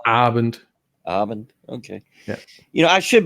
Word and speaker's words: Abend: You want to stress the second word on the A. So it's Abend.